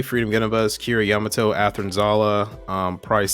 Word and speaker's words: Yamato: Prize B is Kira Yadama. How do you pronounce this guy's last name? Yamato.